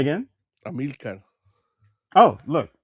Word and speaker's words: Amilcar: Amilcar.